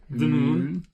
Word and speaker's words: Wimmüln: This is Wimmüln. Wimmüln? How do you pronounce the U with the U with the umlaut? It's a long U. Wimmüln.